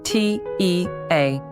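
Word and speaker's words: teacher: We don't pronounce the R sound at the end of words. Let's take the word T-E-A-C-H-E-R. An American speaker would pronounce that final R very strongly. Teach-er. But in Britain, that R is invisible.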